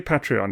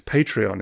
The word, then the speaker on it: Patreon: on our patreon uh now actually I say patreon it's patreon isn't it somebody somebody sent a message correct